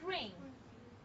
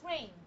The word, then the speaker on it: ring: singer, You see how they pronounce it? Look at, for example, the word ring. ring, Do you hear a gas sound? No. There's no gas sound. So it's ring.